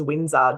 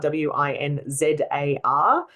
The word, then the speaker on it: Winzar: So my surname is Winzar, Winzar. If you misspell that, you'll probably find a tattoo artist on the Gold Coast.